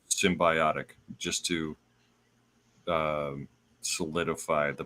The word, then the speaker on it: symbiotic: it's derived from the word symbiotic, which is pronounced symbiotic, just to solidify the pronunciation.